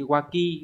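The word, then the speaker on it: 脇: ba là chữ hiếp là nách cái này phải đọc là gì waki đúng không nhở không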